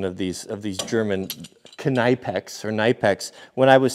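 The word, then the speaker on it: Knipex: And so then I called it Kneipex, and then everyone piled on, no, it's the K is silent.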